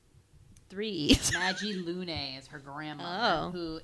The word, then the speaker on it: Magi: and then i found out the mag g maggie yeah you hear your notes phonetically huh because they knew it was going